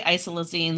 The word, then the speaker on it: isoleucine: Like low, you say isoleucine?